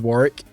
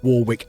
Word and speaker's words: Warwick: "Oh, my name is Warrick." And people go, "Wait, have I been saying it wrong the whole time?" It's like, "No, it's pronounced both Warwick and Warrick." It's just depending where you're from.